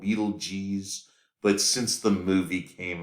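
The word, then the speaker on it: Betelgeuse: um it's so so since that movie we all pronounce it Beetlejuice um all right so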